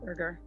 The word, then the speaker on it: Berger: All right, and it's pronounced Berger or Berger? Berger. Hard G.